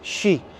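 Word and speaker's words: 四: E o fato é que no Japão também, porque 4 em japonês se diz shi, é uma das pronúncias fonéticas do 4, o que é igual à pronúncia de morte.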